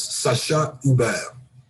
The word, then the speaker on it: Sacha Hubert: The correct pronunciation is Sacha Hubert.